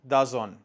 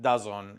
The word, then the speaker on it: DAZN: one in particular named DAZN. I know that's not how you say it. That's just the way Spanish people say it on YouTube. So that's just how I'm going to say it. DAZN.